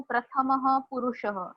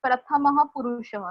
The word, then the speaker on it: प्रथमः पुरुषः: तू ताम अंतु प्रथमः पुरुषः एंड एवरीबॉडी प्लीज से इट प्रथमः पुरुषः नॉट प्रथम पुरुष. वो विसर्ग को प्रोनाउंस करना है.